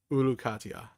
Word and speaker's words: Uruk-hai: His armies disband, and Uruk is saved. Or not Uruk, but Uruk-hai. I pronounced it right the second time.